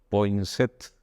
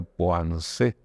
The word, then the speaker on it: Poinsett: los Estados Unidos, Joel Poinsett. Es un apellido que a mí me suena como francés, pero aunque se escribe Point, no lo pronuncian como francés, que sería Poinsett, sino que lo pronuncian así, Poinsett.